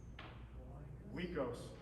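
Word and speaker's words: ϝοῖκος: Remember I told you this is Mycenaean Greek, it's a W sound. Wikos.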